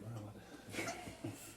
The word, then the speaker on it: Morello: think we should talk to how do you say her name? Morello. Morello. You said it earlier. You said it right earlier, man. Yeah, you did. I just want to say Morello.